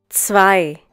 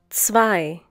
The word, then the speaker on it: zwei: Zwei. Once again, zwei. The German consonant Z is pronounced like the English TS sound that is found at the end of words such as mats, pots, bits.